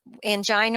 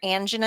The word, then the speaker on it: angina: type of angina and some people pronounce an angina it both angina or angina either one is correct that just kind of